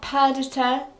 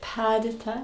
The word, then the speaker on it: Perdita: Because it's purr. Yeah, like Perdita. If you get it from a shelter, Yeah, that's true. and you call it Perdita, Yeah.